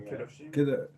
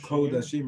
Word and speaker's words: Kodashim: Kedoshim? Yeah. Kedoshim. Kodashim, really? It should be Okay.